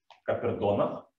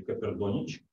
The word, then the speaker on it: Caperdonich: Копердоник, или как его в Шотландии очень часто можно услышать название, оно звучит как Копердонах или Копердонич. Произносит абсолютно по-разному.